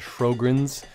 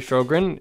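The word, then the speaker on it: Sjögren's: certain medical conditions there's one in particular called fro grens it's really hard to pronounce it I looks like some other language when you actually see the word on paper if I mispronounce it I am sorry Sjogren's if it was named after you well what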